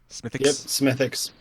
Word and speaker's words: Smithwick's: wix Irish radio ethics smithix yeah is that how you pronounce it you know you don't say the Ws smithix all right thank you